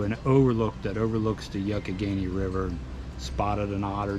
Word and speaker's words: Youghiogheny: Now you'll hear me sometimes in that video pronounce it Youghiogheny. I am not a local, so I didn't pronounce it right. It's the Youghiogheny.